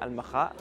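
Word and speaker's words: المخا: In Arabic, we pronounce it Al-Makha.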